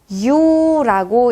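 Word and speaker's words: Ю: 얘는 유라고 읽히는 모음입니다. 유예요. 마찬가지로 이중 모음이죠. 이 플러스 우, 유.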